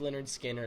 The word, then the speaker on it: Lynyrd Skynyrd: was first getting started you know they released pronounced leonard skinner they're they're kind of taken over like they